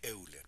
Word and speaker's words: Euler: Se escribe Euler, pero se pronuncia Euler.